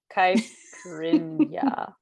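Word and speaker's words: caipirinha: Caiprinha.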